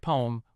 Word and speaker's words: ผม: For men, the safest way to say I is ผม pronounced like poem, rhymes with home but with a P.